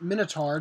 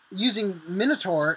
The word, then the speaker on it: Minutor: It's called, I believe it's pronounced Minutor, just like the mythical beast.